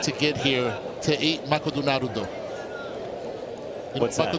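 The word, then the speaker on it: マクドナルド: get here to eat makoto naruto. You What's know that? Makoto naruto is? I do not. McDonald's. That's how you say it in Japanese.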